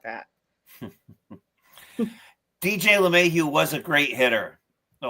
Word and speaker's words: LeMahieu: Speaking of, you guys have reactivated, and I hope I pronounced his last name correctly, DJ LeMahieu. Yep, LeMahieu.